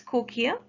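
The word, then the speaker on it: cochlea: outer side and to the inner ear by cochia we pronounce it as cochia the spelling is written on the screen c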